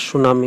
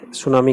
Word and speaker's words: tsunami: नाम है मरा दास सुनामी मेरे प्रिय बच्चों इसमें मिट्टी है वह साइलेंट है तो इसको सुनामी कहेंगे उदास सुनाई जो कि सुनामी